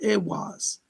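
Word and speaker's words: Ehwaz: It looks like a giant letter M, but it's pronounced AWAS.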